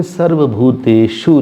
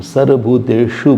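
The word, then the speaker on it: सर्वभूतेषु: जैसे हम बोलेंगे सर्वभूतेशु नहीं बोलेंगे हम। सर्वभूतेशु बोलेंगे मूर्धन्य श है श है वो श नहीं है वो शांति नहीं है शांति अलग है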